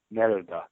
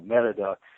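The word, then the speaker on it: Mérida: There's one flight a day from Houston to Merida. I keep on wanting to say Merida because that's how it's spelled in English. But anyways, Merida, and that's so you fly into Merida and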